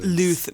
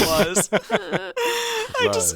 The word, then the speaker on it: Luz: At the side of It's Luz. pronounced Luth. No, I'm kidding. It is Luz.